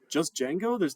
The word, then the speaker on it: Django: We're going to look at, I think it's pronounced django. I don't actually know how people pronounce it here because I've only ever read it. Just Django? You don't say the D?